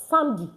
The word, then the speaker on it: samedi: Saturday is correctly pronounced as samedi.